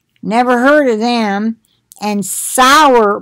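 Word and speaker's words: Sauer: heard of them, and Sour Brands. I've heard of them. It's spelled S-A-U-E-R.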